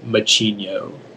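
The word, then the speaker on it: macigno: region of europe machinio are there any alternate pronunciations it's just the one machinio m a c c i n i o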